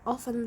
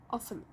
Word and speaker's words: often: Often. You can't hear the T sound. Often. Other people pronounce it with a silent T.